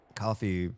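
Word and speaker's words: Ko-fi: the co coffee coffee, I always want to call it Kofi because the way it's spelled, but coffee, Patreon, uh Streamlabs donations,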